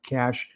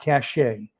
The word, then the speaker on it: cache: pronunciation is Cash not cachet okay so c-a-s-h is how it's pronounced but it's spelled c-a-c-h-e um so hello tofu